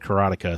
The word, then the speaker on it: Karateka: But Jordan Mechner's always said Karateka, so that's what I say.